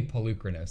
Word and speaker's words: Polukranos: It's technically Polukranos. That's what I say. Yeah. But I hear like a lot of people say it differently.